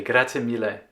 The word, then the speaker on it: grazie mille: Grazie mille.